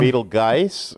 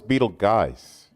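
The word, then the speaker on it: Betelgeuse: whatever move it around beetle geiss or everybody pronounces it i don't you know i thought it was beetle guys if you want to pronounce it that way you're free to because uh everybody's everybody i know says beetlejuice maybe it's because we speak arkansas i don't know but i i've heard it two or three different ways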